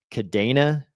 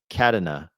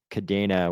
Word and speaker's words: Cardano: Jarie says Kadina. Kadina. That is like the worst one. If they I think they picked the worst pronunciation.